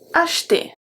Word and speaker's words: acheter: Vous pouvez acheter. Acheter. So CH, like I said, make the sound sh, sh, H.